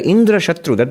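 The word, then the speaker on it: इन्द्रशत्रु: now enemy of indra indrashatru the word it can be pronounced in two ways with accent on the first syllable or accent on the last syllable now if you pronounce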